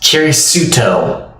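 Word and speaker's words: キリスト: And Christian being pronounced as Kirisuto.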